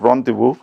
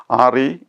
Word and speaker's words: rendezvous: The strange pronunciation is because the word comes from the French language. Okay, let us see the word once more. Rendezvous, Rendezvous.